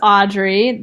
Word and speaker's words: Audriix: My name's Audrey. The X is silent.